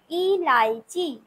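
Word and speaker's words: इलायची: এলাচকে এলাচকে আমরা হিন্দিতে বলবো ইলাইচি ইলাইচি। এলাচকে আমরা কি বলবো হস্যই লয়াকার অন্তস্থ চয় দীর্ঘী ইলাইচি।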